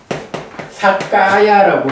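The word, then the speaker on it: sakkāya: 그러니까 유신이라고 할 때는 무슨 사까야라고 해서 요게 이제 사뜨라고 하는 단어가 뒤에 까야 K하고 연결되다 보니까 발음이 동화돼 가지고 사까야가 된 거야.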